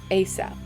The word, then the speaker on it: ASAP: response is yes sir asap pronounced a sap an acronym of as